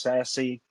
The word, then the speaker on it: SASE: it's like pat said secure access at the service edge pronounced sassy um right a little